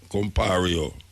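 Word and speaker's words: Compaoré: Compario.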